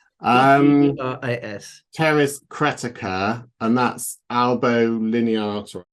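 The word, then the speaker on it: Pteris: Terrace I never know I presume you don't pronounce the p with that um Terrace cretica and that's elbow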